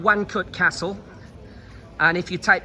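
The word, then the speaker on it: Łańcut: castle for example in wanut it's spelled with an L uh l a n c u t so polish is very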